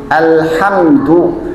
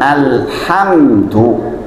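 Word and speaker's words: الحمد: Jikalau bacanya benar alhamdu segala puji. Sekarang jenengan baca salah. Alhamdu pakai H besar. Jadi apa artinya? Segala kehancuran lillah milik Allah.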